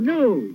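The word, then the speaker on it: gnu: It's G-N-U, new. The G is silent.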